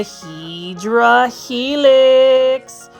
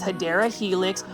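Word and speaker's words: Hedera: over here we've got a hedra helix or what I would call the correct way to say it is hadera helix or English ivy this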